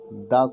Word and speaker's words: the: क्योंकि अम्ब्रेला आ रहा है आ से, और अभी हमने पढ़ा था कि जब भी किसी वोवेल्स की साउंड आएगी किसी वर्ड में तो उससे पहले हम द को दी प्रोनाउंस करेंगे।